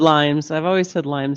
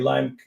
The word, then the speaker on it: Lyme: Well, I've always said Lyme's disease. Yeah, I've been to about 15, 20 Lyme conferences.